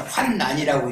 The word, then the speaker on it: 환난: 왜냐하면 자신이 환난을 겪고 있는데 환난이 아니라 환난이라고 읽어야 돼요. 뒤에 니은이니까. 뒤에 란일 때는 리을일 때는 환난이라고 읽지만 환난을 겪고 있는데 어떻게 의롭다며 머리를 들 수 있느냐.